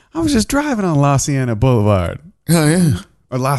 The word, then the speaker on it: La Cienega: like, oh man, I was just driving on La Cienega Boulevard. Oh yeah, or La Cienega. That's how you say it. La Cienega.